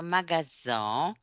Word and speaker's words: magasin: Oh, je travaille dans un magasin en S leçon de Z.